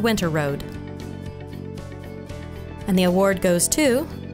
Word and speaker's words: Winterrowd: Ponca City – Richard Winterrowd (pronounced, Winter Road).